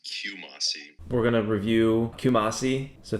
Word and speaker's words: Qumosi: and welcome to chew Morse or cumosi it's pronounced Kumasi we're gonna review Kumasi so thank you o37